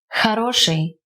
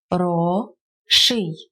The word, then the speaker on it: хороший: Хороший, masculine good. Хороший, хороший. The first one isn't stressed, so we pronounce it as A, and the second O is stressed, so it remains O.